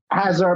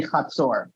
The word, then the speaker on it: Hatzor: the confederation of Hatzor, which in English you might want to pronounce as Hatzor or something like that. Hazard, maybe. Hazor, but in Hebrew it's going to be Hatzor.